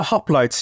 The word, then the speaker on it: hoplites: This is the famous hoplites, am I pronouncing it correctly? The hoplites, yeah.